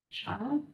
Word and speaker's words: Charl: Charles? Charl. Charles? Yeah, like Sharon, Charl. Sure. Sure. Charl. Carl, but a sh instead of.